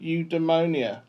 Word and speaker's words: eudaimonia: And it just sounds more like saying eudaimonia, like your ammonia.